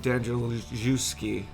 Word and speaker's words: Danielewski: House of Leaves by mark Z Danielewski and that is how you pronounce it yeah yes mark is